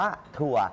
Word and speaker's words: ถั่ว: ว่า ทัวร์ ถ้า เขียน วัน นี้ อ่าน ว่า ถั่ว พ พาน สระ อือ พ พาน สระ อู